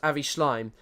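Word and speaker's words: Avi Shlaim: I'm absolutely sure it's pronounced Avi Schleim.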